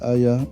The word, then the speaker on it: AIIA: Welcome back to the Artificial Intelligence Institute Africa AIA, pronounced Aya, Ubuntu Guild videos on AI.